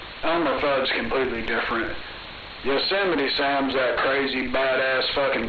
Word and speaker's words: Yosemite: You sit like you're sitting down in the chair.